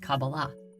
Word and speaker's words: Qabalah: in the Hebrew alphabet these four letters together are pronounced Kabbalah however the most common